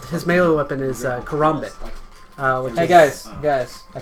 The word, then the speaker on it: karambit: His melee weapon is karambit.